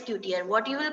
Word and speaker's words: couture: It is not couture, it is coutier.